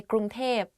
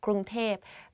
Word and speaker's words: กรุงเทพ: กรุงเทพมหานคร Bangkok กรุงเทพมหานคร If you go to Thailand and you hear people talk about Bangkok, they will say กรุงเทพ because like conversation wise it's easier to pronounce like that กรุงเทพ but a longer name